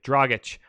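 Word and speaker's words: Dragić: my god I'm trying to say it correctly draaga CH then I'm totally okay with that if on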